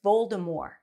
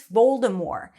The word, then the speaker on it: Voldemort: decision not to race Voldemort to the wand still scared Harry now I know that in the movie they say Voldemort with a t but apparently the author